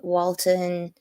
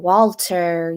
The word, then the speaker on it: Walton: I I loved uh Walton everybody keeps saying Walter giggin Walter even I am Ash to say I get into that kind of thing where can't pronounce his name right Walton Goin walon gogin